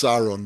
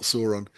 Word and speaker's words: Sauron: Yeah, yeah, I mean, it wouldn't have been Lord of the Rings if Sauron. I only learnt recently yeah. he's pronounced Sauron, not Sauron.